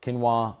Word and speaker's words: quinoa: Would it be like rice, like white rice, brown rice, quinoa?